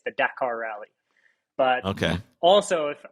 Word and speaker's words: Dakar: So if you're American, typically everyone pronounces it Dakar, but it's the proper way to say it as far as the Dakar Rally, you would put emphasis on that first A. It's the Dakar Rally.